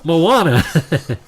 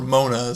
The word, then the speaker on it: Moana: she did last week Moana Disney's Moana or Mona some people have pronounced it Mona uh did you take